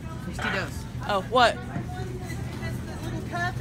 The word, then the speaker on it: Tostitos: This vlog brought to you by Tostinos. Totally pronounced that wrong. Tostitos.